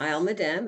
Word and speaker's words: Isle Madame: arishat is located on isle mad dam is that how it's pronounced i'll madame that's correct okay what other villages